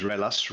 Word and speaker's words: Ruelas: eric this is again my last name is relas ellis and it's a pleasure to be